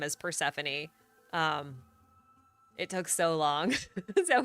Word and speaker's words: Persephone: And I had to relearn her name as Persephone. It took so long. So it was so ingrained in my brain. Her name is Persephone. Like, nope, Persephone. So I think pronouncing the E is technically correct.